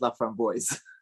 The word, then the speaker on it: LaFramboise: was from Chicago so he pronounced his last name as love from boys I know you're in